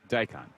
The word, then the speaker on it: daikon: Daikon. Daikon. Yeah, with pickled dicon.